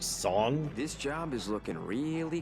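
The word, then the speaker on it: Tseng: of the Turks song It's supposed to be pronounced song this job is looking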